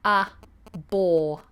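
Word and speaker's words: abhor: I abour it so just have a look at that pronunciation with me ah boy the H is silent completely ah bore a bore a bore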